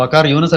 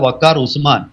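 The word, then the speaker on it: Waker-uz-Zaman: ക്ഷമിക്കണം വക്കാർ യൂനുസ് അല്ല വക്കാർ ഉസ്മാൻ വക്കാർ ഉസമാൻ എന്നാണ് അദ്ദേഹത്തിന്റെ ശരിയായിട്ടുള്ള ഒരു ഉച്ചാരണം പേരിന്റെ ആ വക്കാർ ഉസമാൻ വളരെ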